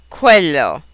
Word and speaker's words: quello: The combination QU is always pronounced as KW, just as in the English queen or quest. Example Italian words would be quello and cinquanta.